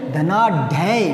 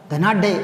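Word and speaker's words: धनाढ्य: वह बहुत धनाढ़ है, धनाढ़ नहीं धनाढ़, ढे ढक्कन वाला, धनाढ़, और वो भी आधा, तब हलंत लगाए, धनाढ़, धनाढ़।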